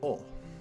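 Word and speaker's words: お: This should be O. O. This is the O, or O. It's the equivalent of the vowel O in English. You pronounce this one as O, like O-H.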